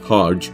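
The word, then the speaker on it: Hergé: Remy was known by his pen name Hajj from the French pronunciation of his reversed initials RG.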